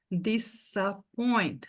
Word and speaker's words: disappoint: Em todas essas palavras aqui, o S tem som de S. Disappoint, disappoint. Disappear, disappear. Disorganized, porque em português, quando o S está entre vogais, a gente faz um som de Z. E a nossa tendência vai ser querer falar essas palavras em inglês igual a gente falaria se fosse português, né?